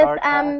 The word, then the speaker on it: sorta: And because of stress, the of does not get pronounced fully or really at all. So kind of sounds like kinda. And sort of sounds like sorta.